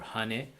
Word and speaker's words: hane: first uh first melody hana one or hane it pronounced in turkish hane means house or